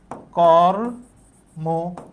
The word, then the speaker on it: কর্ম: এখানে আছে র এর সাথে ম, আমরা দেখছি ম এর সাথে একটা অ আছে, কিন্তু অ এর উচ্চারণটা এখানে ও এর মতো হবে। কেন হবে? এই যে যুক্তবর্ণ তাই, তাহলে এটার উচ্চারণ কি লিখতে হবে? কর্ম, কর্ম। র এর ওখানে থামছি তাই হস্যিন্য, আর শেষে ম, কিন্তু মো হবে কারণ এখানে যুক্তবর্ণ তাই।